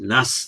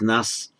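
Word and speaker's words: нас: It's pronounced nas, that is nas, meaning us.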